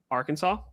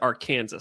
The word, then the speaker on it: Arkansas: from Arkansas. Yep. I almost said Arkansas. I'm like, that's not the correct pronunciation.